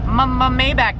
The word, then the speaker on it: Maybach: You guys don't like the way I pronounce Maybach? Then I'm gonna call it Maybach. Just kidding. Maybach music.